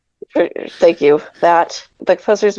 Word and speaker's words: Tchaikovsky: Tchaikovsky. Tchaikovsky, thank you.